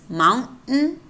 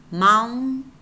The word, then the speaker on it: mountain: say gotten and forbidden, it's easier to say, at least for me, and it's the way it's pronounced in American English is mountain, mountain. It's like you swallow the sound.